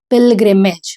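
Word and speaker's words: pilgrimage: हु जो वाज़ था ऑन अ पिग्रिमेज। मतलब तीर्थ यात्रा में। यह जो वर्ड है इसको प्रोनाउंस करेंगे पिल्गिमेज।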